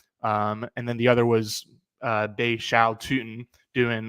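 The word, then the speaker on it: Bhayshul Tuten: According to the pronunciation guide in front of me, it is Bay Shao Tootin. Bay Shao Tootin. I've definitely been saying Bay Shul Tootin, but it's Bay Shao Tootin, the 4th round running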